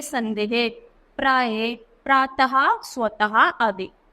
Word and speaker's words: प्रातः: प्रातः स्वतः आदि तो विसर्ग का उच्चारण हा की तरह होता है जैसे अतः प्रा कैसे पढ़े हमने इसको विसर्ग को है की तरह पढ़ेंगे तो प्राय है प्रातः स्वतः और वैसे ही अतः तो जहां भी वि सर्ग आए उसको हमें है की तरह पढ़ना है फिर व्यंजन तो किसी